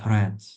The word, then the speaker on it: read: She opened it, the letter, and read. Yeah, it's the same, but the pronunciation, here's the difference between, the pronunciation of this word, red, like a color.